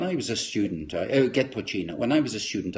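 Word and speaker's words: poitín: may not know what poin that's how you pronounce that p i t i n pin is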